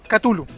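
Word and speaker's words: Cthulhu: más poderoso, que es Katulu o Tulu o Chulu, como muchas veces eh uno no sabe muy que muy bien cómo se pronuncia, aún cuando Lcra le escribió a sus amigos diciéndole en realidad que la pronunciación de era catul.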